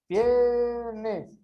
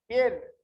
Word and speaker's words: viernes: Por exemplo, Viernes. Viernes. No, ele teria o som mais forte en esta sílaba, ¿no? Entonces sería aguda, grave. Aquí sería una grave.